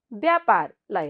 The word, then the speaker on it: व्यापार: यहाँहरूले विचार गर्नुहोस् है ल हेर्नुहोस् त व्यापारमा आधा व छ तर यसको उच्चारण त ब हुने रहेछ होइन त व्यापार अब यहाँ पुरा र लेखिएको छ तर उच्चारण त आधा र उच्चारण हुन्छ है यस्ता कुरालाई पनि हामी विचार गर्नुपर्छ नि व्यापार त्यस्तै गरी अर्को शब्द